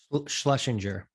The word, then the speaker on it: Schlesinger: Schlesinger.